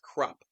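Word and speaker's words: Kruppe: Crop though, apparently somebody posted in the Fable book club today that Stephen Ericson has said that it's pronounced crup.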